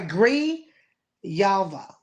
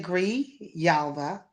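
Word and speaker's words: Grijalva: I think that's how you say it. M yes G I'm sorry Gree Yalva Adelita Gree Yalva had been elected more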